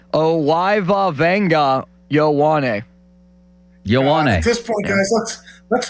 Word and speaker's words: Ioane: Yeah, it's in the pronunciation guide as Vang, V-E-N-G, it's Yowane. Yowane. Venga Yowane. If you want to pronounce his full first name, it's Owiva Venga Yowane.